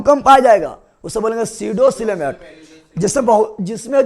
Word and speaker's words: pseudo: क्योंकि हम देखो सीडो को भी लिखते हैं इससे PSEUDO, जहाँ पी साइलेंट है।